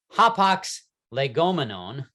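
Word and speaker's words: hapax legomenon: hop ox legomana and if you were to pronounce it in greek the singular form so that hapock's legomania is plural hop ox legomanon is the singular form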